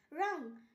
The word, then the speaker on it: wrong: রং, WRONG রং, এখানেও আর এর আগে ডাব্লিউ আছে তাই ডাব্লিউ এর উচ্চারণ হয়নি।